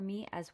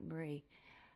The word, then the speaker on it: Mira: been really helpful for me as well as Marie Kelly um did I say her name right I always say Marie her name is not Marie um mea her name is Mira Kelly um yeah I really